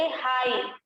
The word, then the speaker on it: high: जैसे हाई, HIGH, हाई जानते हो ना, हाई जो है वो उसमें GH आपका साइलेंट है, सिर्फ सुनाई दे रहा है H और I, हाई।